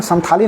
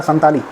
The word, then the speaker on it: संताली: उन लोगों ने क्योंकि उनका उच्चारण संथाली नहीं होता है उनका उच्चारण होता है संताली दे आर संथाल और